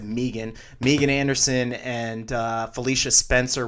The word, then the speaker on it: Megan: results from last night Megan Anderson or I guess it pronounced at Meegan Meegan Anderson and Felicia